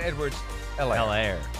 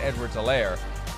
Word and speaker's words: Edwards-Helaire: So it's, by the way, it's Clyde Edwards-Helaire. No H. H is silent, something we're all learning now, especially those of us that didn't watch a whole lot of college football last year. Clyde Edwards-Helaire.